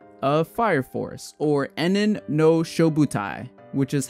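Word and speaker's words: 炎炎ノ消防隊: Okay guys, so I just finished watching episodes 1 and 2 of Fire Force, or Enen no Shouboutai, which is how it's said in Japanese.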